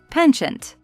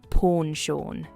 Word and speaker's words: penchant: As I speak American English, I'd rather say penchant. And, although I speak British English, I still prefer saying penchant than pawn-shawn. However many of my British friends say pawn-shawn.